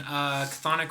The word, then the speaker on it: Chthonic: Chthonic Records Bandcamp, probably. Yeah, it's on Chthonic Records. Spelled with a C.